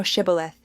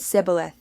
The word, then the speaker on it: Shibboleth: Then said they unto him, Say now Shibboleth. And he said Sibboleth, for he could not frame to pronounce it right.